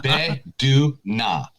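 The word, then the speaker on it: Bae Doona: And also in this movie, Be-Du-Na. That's how you pronounce it.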